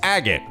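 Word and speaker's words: Agate: it helps to remember his name's agot rhymes with maggot genuinely tough and not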